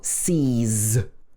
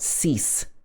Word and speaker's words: sees: For example, sees or kangaroos. She sees us every weekend. Sees, not cease. Should be sees.